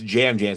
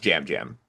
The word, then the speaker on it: Yam Yam: Yeah, it's pronounced Jam Jam. Despite the fact it looks like Yam Yam is his name, but it's pronounced Jam Jam.